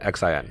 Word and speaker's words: Qianxin: How do we pronounce it? Qianxian. Qianxian. Qianxin. Qianxin. Qianxin.